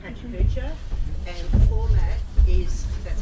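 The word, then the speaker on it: PechaKucha: This was made for a slideshow called Pachacucha, and the format is, that's how you say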